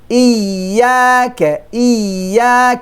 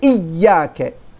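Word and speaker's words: إِيَّاكَ: Iyaka. Don't say Iyaka. Too much shiddah, too much strength on. No.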